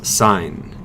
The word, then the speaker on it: sin: You always pronounce this sine, like a stop sign.